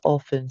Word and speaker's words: often: But I would say probably about 80% of people miss out the T.